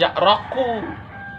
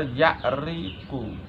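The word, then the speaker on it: يعرق: Awas bacanya jangan ya'raku. Ya'ruku juga salah, ya'ruku. Yang benar ya'riqu.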